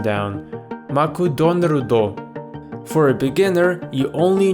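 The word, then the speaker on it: マクドナルド: McDonald's took me a while to get the pronunciation down maku Don rudo for a beginner you only need two systems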